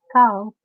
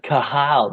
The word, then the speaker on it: Cathal: Carl. Yeah, it's just real Carl. soft. But everyone's like Cathal, and I'm like, no, it's not like that.